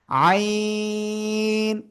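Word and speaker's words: عين: আইন প্লিজ সবাই একসাথে জোরে জোরে বলেন।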